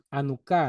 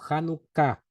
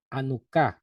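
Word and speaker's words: Janucá: una celebración bastante importante anuca le llaman o hanuka algunos pronuncian con j como si fuera en inglés a mí no me gusta pronunciar la H como si fuera gringo o como si fuera una palabra inglesa anuca con h al inicio anuca la fiesta de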